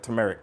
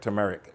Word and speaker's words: turmeric: I always pronounce that funny. I I was watching back another video I did, and I'm like, turmeric, tumeric. It's turmeric.